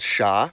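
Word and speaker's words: ш: It's called sha. It's used in every Cyrillic script language, and as you can guess, it sounds like sh.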